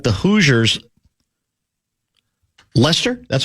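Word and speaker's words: Leicester: Like the Hooers, Lester, that's how it's pronounced. Lester, came out of nowhere to win it all.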